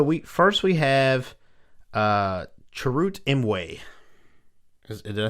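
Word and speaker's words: Chirrut Îmwe: on um so we first we have uh charoot emway is did i say his name right that's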